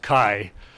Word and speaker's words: Kay: But it's pronounced Kai, according to the Belgian people.